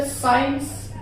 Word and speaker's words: science: भी वर्ड में letter S के तुरंत बाद आपको सी मिल जाए तो उस कंडीशन में भी आप सी को साइलेंट करेगा। जैसे साइंस, एक हमारा वर्ड है SCIENCE, साइंस, सीन, ये ऐसे वर्ड्स